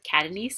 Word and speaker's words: Catanese: some sunny weather okay here's how to pronounce my name have a pronunciation key here Catanese it's like cat nice if you want like